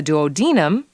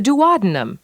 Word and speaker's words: duodenum: In either case, it refers to the duodenum or the duodenum, whichever pronunciation may be used in your specific location.